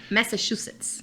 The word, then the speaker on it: Massachusetts: cidade de Conrad, em Massachusetts. Eu pronunciei correto? Massachusetts. Ah, agora a pronúncia ficou bonita.